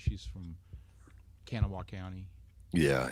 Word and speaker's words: Kanawha: she says she's from kanawha county yeah it's we we say or actually i actually say kanala i actually put a little w in there instead of canal